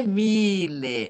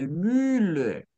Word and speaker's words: Müller: Ok, Alemão disse Müller, não é Mille, é Müller, ok, ok, Lo- ok?